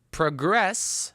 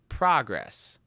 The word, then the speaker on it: progress: Okay, now progress as a verb and progress as a noun.